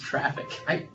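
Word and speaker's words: Traefik: It's pronounced traffic. That's not how you spell traffic, though, so I'm confused. I'm a simple man. Wait, man, I was going to say Trafic. The A and E are like combined, and I forget what that.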